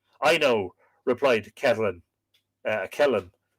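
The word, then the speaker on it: Ceithlionn: know replied Catalan uh Kellen it's it's Kathleen uh c-e-i-t-h-l-i-o-n-n modern pronunciation B would be Kellen the wife of Balor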